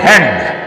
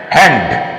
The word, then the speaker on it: hand: certain tips for example if you see after n there is D or there is T don't pronounce that D or t very prominently for example h a n d don't say hand hand but make it soft say hand give me your hand